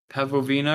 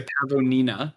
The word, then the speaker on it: pavonina: And they are like even more metallic blue than the pavovina, or however you pronounce it. Yeah. So pavonina, there we go.